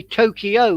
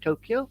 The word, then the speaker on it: Tokyo: Place weird I mean we're in the west say Tokyo where it's in Japanese Tokyo and it goes up at the end not down pitch the way you